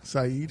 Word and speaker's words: Said: Is it S-A-I-D, like Saeed? Yeah. Saeed? Said. Saeed. S-A-I-D, Saeed Ahmed.